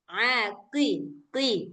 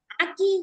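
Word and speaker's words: ق: Kita enggak sampai qi, enggak sampai gitu bacanya. Tapi harus tetap tebal dia, Mbak. Mbak diah a qiqi. Aqi. Iya. Heeh. Enggak boleh aki.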